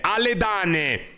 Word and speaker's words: Aledain: Per la cronaca, il mio nome si legge come si scrive: Aledane.